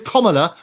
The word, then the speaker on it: Kamala: It is Kamala, as in comma, the punctuation, and la on the end of it.